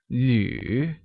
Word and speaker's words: 旅: 旅 is pronounced using the third tone on U, like 旅.